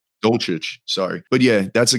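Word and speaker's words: Dulcich: How you pronounce his name? Dolchich, sorry.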